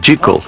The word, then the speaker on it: Jekyll: Stevenson siempre insistió que el nombre debía ser pronunciado Jle, en parte porque esa es la forma en que los escoceses lo pronuncian y en parte porque significa que hide y jle riman con las palabras en inglés hide y sick.